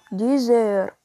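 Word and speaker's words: deux heures: طب الساعة اتنين إيلي ديزير، ديزير. قلبنا الإكس لزد في النطق عشان بعدها أش حرف فويل.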